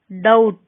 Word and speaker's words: doubt: B is not pronounced before T at the end of a root word. Doubt, settle.